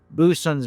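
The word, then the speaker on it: boatswain: In postw World War II films and TV, it was common to have correct pronunciation of rank ratings and tasks. For example, Boson's mate is the slurred abbreviation term for deck handling sailors, short for boat swings, but pronounced bosons.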